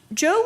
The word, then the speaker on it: Chow: Chow. Actually, he wasn't early. He came to the school in 1949. But I would say, I'm sorry, it's pronounced Joe, forgive me.